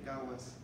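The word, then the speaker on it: Gathas: Ah, pero es que dice que en el idioma avéstico se dice gawas. ¿Cómo? Gawas. Gawas. Gawas. Gawas, sí, ok. Se escribe gatas, se pronuncia gawas.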